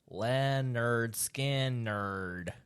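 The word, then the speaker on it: Lynyrd Skynyrd: song what anything from leonard skinner pronounced land nerd skin nerd that that is a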